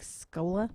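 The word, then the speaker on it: Skola: if you can find him he's kicked like scola that's what i call e schooler that's what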